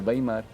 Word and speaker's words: Weimar: Y hay una constitución muy importante, es la llamada Constitución de Weimar, o como se pronuncia, Weimar, en Alemania, por el nombre del lugar donde